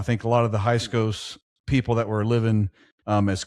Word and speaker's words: Hyksos: Hyksos.